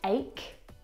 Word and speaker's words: ache: Words like stomach and ache. The ch in all of these words is pronounced like a c sound.